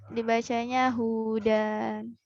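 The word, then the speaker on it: هدى: 135 titik 135 alif maksurah dibacanya hudan.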